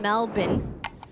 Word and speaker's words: Melbourne: A very highly anticipated game going down September 10th in Melbourne. By the way, that's the proper way to say it.